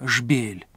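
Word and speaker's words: جبيل: как мы говорим byblos или на современном арабском языке произносится как шпиль byblos был первым городом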